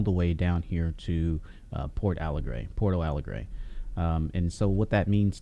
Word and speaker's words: Porto Alegre: Porto Alegre.